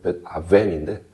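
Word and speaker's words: בית און: 그 정확하게 히브리로 발음하면 벳아웬인데 벳아웬 이 아웬의 죄와 망령되다라는 비어있다라는 단어가 종종 같이 나와요.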